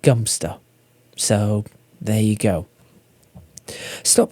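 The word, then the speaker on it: Godmanchester: one that is spelled uh g-o-d-m-a-n-c-h-e-s-t-e-r and it's pronounced gunster so there you go stop by the four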